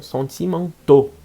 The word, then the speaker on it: sentimentaux: Ils sont sentimentaux. Muda a pronúncia.